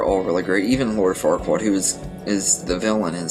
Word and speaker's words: Farquaad: they named him Lord Farquaad as a dirty joke, because if you say his name over and over again, it comes out really dirty and everything, and it rhymes with Duckwad.